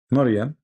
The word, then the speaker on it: Maryam: Maryam, not Mary, Maryam, the sister of Aaron.